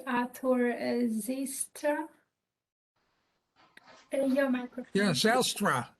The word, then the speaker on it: Zijlstra: Yeah, Zijlstra is the difficult pronunciation. I'm from the Netherlands, and my family came originally from the province of Friesland. So it's a real Frisian name.